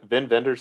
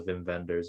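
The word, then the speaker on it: Wim Wenders: make sure I say Vin vendors is that how you actually say his name I know it gets yeah German W's are V so Vin vendors um wings of Desire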